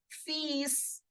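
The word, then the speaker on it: fils: French simply as fees you see the L here is for decoration okay you don't have to make any sound of this L this is just for decoration and the s in the end will be pronounced completely as it is an exception so yes you will pronounce this word like Feast Fe means son now how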